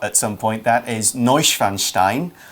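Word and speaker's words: Neuschwanstein: some point that is noise fan Stein which is kind of how you say it I'm I got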